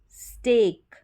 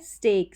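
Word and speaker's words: steak: ब्रेक, ये स्टेक, क्या है स्टेक, स्टीक नहीं स्टेक।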